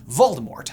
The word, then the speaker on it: Voldemort: far more menacing moniker: Voldemort. I guess it's technically supposed to be pronounced "Voldemor", but whatevs. Whatever, I'm getting cheese fries. The name Voldemort has French origins and